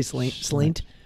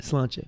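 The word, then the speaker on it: sláinte: But they say slant. How do you, what's the actual proper way to say it? Slantcha.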